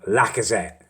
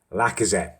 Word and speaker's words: Lacazette: on my pronunciation, and I believe I've now got it down, the Arsenal striker, the new one, Lacazette. Lacazette, there we go. I believe that's the correct pronunciation.